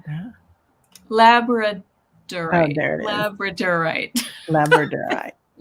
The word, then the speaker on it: Labradorite: Yeah, labradite. lap. I know I'm not saying it right. How did it said that? Labradorite.